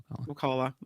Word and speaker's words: Ocala: Ocala. No, I know exactly how it's pronounced.